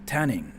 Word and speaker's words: 店員: ニンニクって初めて聞いたとき、そうね、ニンニクと tanning こんにちは So if you see like two N's like this in Japanese, you are supposed to pronounce it like tanning the sound, yeah, like Hong Kong, like Hong Kong, right? That N sound is like what you need to make it sound good.